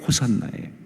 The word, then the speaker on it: 호산나: 그런데 그 호슈아 나를 갖다가 발음 나는 그대로 헬라어로 표현한 게 호산나예요.